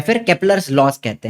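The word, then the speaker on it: Kepler: चलिए फिर आते हैं हमारे योहानेस केपलर। वैसे स्पेलिंग में जे है लेकिन प्रोनाउंसिएशन इसका योहानेस केपलर ऐसे ऐसे होता है, ठीक है।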